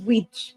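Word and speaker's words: width: অনেকে এটাকে ওয়াইড উচ্চারণ করে, কিন্তু অ্যাকচুয়ালি উচ্চারণ কিন্তু উইথ, উইথ।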